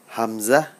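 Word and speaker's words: ح: বা তা সা জিম হা এর উচ্চারণটা খেয়াল করুন হা এটা অনেক ভিতর থেকে আসছে গলার মাঝখান থেকে হা দাল জাল র যা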